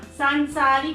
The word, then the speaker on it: सांसारिक: संसारिक नहीं होता, सांसारिक होता है। सांसारिक।